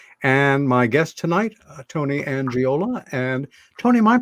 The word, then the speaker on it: Angiola: Robbins that's me and my guest tonight Tony angiola and Tony my pronouncing your last name correct you are sir